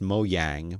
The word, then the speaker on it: Mojang: designer and developer at mojang i've heard it pronounced mo yang but i'm not gonna do that um this is a person